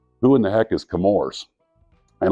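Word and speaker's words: Chemours: in the heck is camors and a lot of people's uh say it like CH like Chewie and it's chemistry that's ours is where the name derives now that doesn't mean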